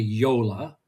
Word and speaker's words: JOOLA: Yeah, so the correct pronunciation is actually Yola, which Yola. You might think with Y and J's, it might be some sort of Spanish, but no, it is German origin.